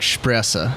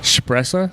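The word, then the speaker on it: Shpresa: Marissa suppressor yeah yeah I usually pronounce it like SH presa suppressor yeah that's really close yeah I'm cold we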